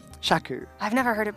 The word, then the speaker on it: Shaku: It rhymes with achew.